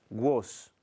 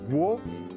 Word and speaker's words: gros: Et gros, un S qui ne se prononce pas.